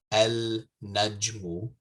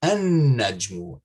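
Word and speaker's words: النجم: in front of it, you don't say al-najmu. You say an-najmu, an-najmu. You skip over the lam when reading.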